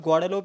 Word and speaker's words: Guadeloupe: And all that I know about Guadeloupe is that it rhymes with Laudelope.